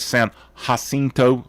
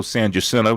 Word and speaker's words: San Jacinto: Sam Houston ended up being, he was the general who won at San Jacinto, also San Jacinto, depending on how you want to pronounce it.